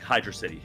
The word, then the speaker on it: Hydrocity: and uh more like Hydro City okay or hydrostity which by the way I asked uh how do you pronounce and he said hydrocity his his uh very